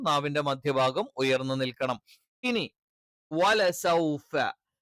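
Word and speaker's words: وَلَسَوْفَ: സ നാവിന്റെ കൂർത്ത അറ്റം എന്ത് ചെയ്യുന്നു? രണ്ട് വരി മുൻപല്ലുകൾക്കിടയിൽ വെക്കുന്നു. വലസൗഫ, സ സ. തായും സായും ഉച്ചരിക്കുന്ന സമയത്ത് നാവിന്റെ മധ്യഭാഗം താഴ്ന്നു നിൽക്കണം. സ്വ ഉച്ചരിക്കുന്ന സമയത്ത് മാത്രം നാവിന്റെ മധ്യഭാഗം ഉയർന്നു നിൽക്കണം.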